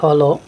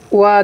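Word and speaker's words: は: Note: ওয়া যখন particle হিসেবে ব্যবহার করা হয় তখন ওয়া উচ্চারণ করা হয়। এটা দেখতে হা, কিন্তু পার্টিকেল যখন আমরা উচ্চারণ করব তখন ওয়া উচ্চারণ করব।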